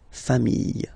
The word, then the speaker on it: familles: the plural form, les familles. Okay, remember, chien, singular form, chien, same pronunciation, but you put this s. Okay, final s, not pronounced. Famille, singular form, famille, plural form, same pronunciation, s, not pronounced.